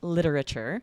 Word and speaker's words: literature: And then I said, you've always been way more interested in literature. So here, interested becomes 3 syllables, but literature usually stays 4.